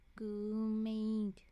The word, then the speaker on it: Goomade: Goomade. Spelled like goo made, but in one word.